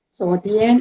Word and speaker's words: 昨天: 昨天，昨天，昨 second tone 哈。昨天 yesterday.